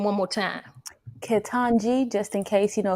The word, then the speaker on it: Ketanji: come on say that name one more time ketanji just in case you know a few folks didn't know how to pronounce it jackson she might be our cousin